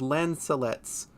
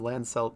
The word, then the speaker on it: lancelets: also Alpha does know they are called lancelets that sounds correct I I've probably been just have I've been pronouncing them wrong I think I called them lands or something either way